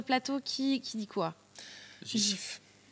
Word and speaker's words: GIF: nous nous dit que pour lui et bien c'est un gif et pas un gif donc c'est un jet doux voilà et pourtant donc